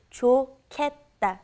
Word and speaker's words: 좋겠다: It's pronounced differently than how it's spelled. It's the pronunciation is 좋겠다, 좋겠다.